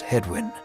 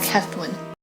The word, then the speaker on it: Hethwin: The older man is the picture of courtesy, as he genuflects and introduces himself as Hedwin, when it should be more like Hethwin.